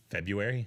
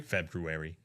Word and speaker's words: February: Do you always pronounce the first R in February? I never pronounce the first R. February.